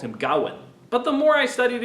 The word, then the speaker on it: Gawain: with some indication that there might be a stress on the second syllable gain when I first studied this poem in college my professor always called him Gowan but the more I